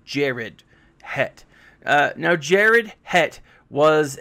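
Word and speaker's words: Sharad Hett: you who don't know sharad het was actually it's not pronounced sharad it's actually pronounced jared het uh now jared het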